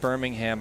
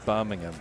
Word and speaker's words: Birmingham: Jesus but yeah um it's actually not pronounced Birmingham I only say it that way when I'm in the United States but it's supposed to be boming him ah and that's how you say it in British uh it's one of